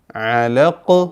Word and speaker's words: علق: 2 ആയത്തുകൾ, 1-2 ആയത്തുകൾ വഖഫ് ചെയ്യുമ്പോൾ നമ്മൾ ഖലഖ് അലഖ് ഇങ്ങനെ ഖാഫും ഖാഉം മിക്സ് ആയിട്ടുള്ള ഒരു ഉച്ചാരണം, അത് നമ്മൾ വളരെ സൂക്ഷിച്ച് പരിശീലിക്കണം. വളരെ ക്ലിയർ ആയിട്ട് കാറ്റ് നടക്കാതെ ഖലഖ് ക്ലിയർ വോയിസ് ആക്കണം. ഖലഖ് അലഖ് ഇങ്ങനെ.